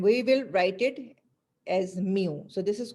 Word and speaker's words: mu: is what we what we we call it mu m u you can say this is we call it uh pronounce it with mu sine so this is